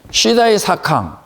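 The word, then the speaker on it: 时代思康: 자회사, 손자회사, SSNM, 이 손자회사를 보통 이제 이게 시다이 사캉인, 시다이 사캉. 이렇게 읽으면 되는데 보통은 시대 사강이라고 읽어요. 그냥 한문으로.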